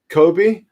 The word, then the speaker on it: Kobe: Is it pronounced Kobe? Like as in Kobe Bryant, same pronunciation, Kobe?